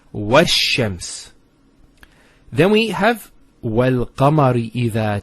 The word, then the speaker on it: وَالشَّمْسِ: This is al of definiteness. This is hamzat al-wasl. It's not pronounced, because there's something before it. Similarly, this lam is not pronounced either, because as we said, this is from the sun letters, and there's a shadda there. So it's wash-shams.